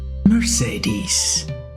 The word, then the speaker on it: Mercedes: Now under the name Mercedes, or in English also often pronounced Mercedes. Mercedes.